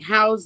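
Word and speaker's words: Haus: Hemlock house a and that's spelled h a u s not house like h o USC but like house like the German house him loock house on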